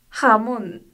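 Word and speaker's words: jamón: 하몬. 하몬. 잘하셨습니다. 감사합니다. 다음은 N의 발음입니다.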